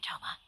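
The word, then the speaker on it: Thoma: oh except to you toma toma that's how you say his name okay you must be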